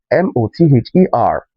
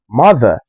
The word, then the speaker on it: mother: Mother, mother, and not mother.